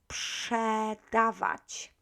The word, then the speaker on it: sprzedawać: Make sure that you don't start this verb with p. This is very common mistake. Sprzedawać. I hear very often sprzedawać. It's not p, it's s, and then after the p follows.